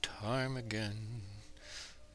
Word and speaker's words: ptarmigan: But tonight we're tying with a ptarmigan. But it's spelled with the P. The P is silent.